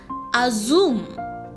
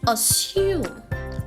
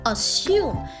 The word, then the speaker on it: assume: is often mispronounced as a zoom some say azum some say assume but any which way you rock the correct pronunciation is assume assume there is no Zs in the world